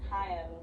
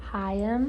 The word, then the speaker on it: Haim: How you pronounce their last name is Haim. Two syllables. Haim. There you go. I thought that it was H.